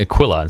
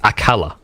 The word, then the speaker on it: Aquila: some of them according Aquila some are cool Aquila and none of them seem to realize it's a kala alright and that's what